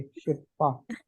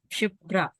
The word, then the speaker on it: शिप्रा: यस सर sir actually आप मेरा नाम ना गलत प्रोनाउंस कर रहे ओके शिपा श शिप्रा शि ऐसे नहीं हु शिप्रा पी पहले आर बाद ए आई प आर